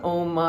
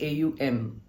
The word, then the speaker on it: Om: Every chapter begins and ends with the pran you know oma ja this is the kithan that goes on but it is never pronounced as a u m.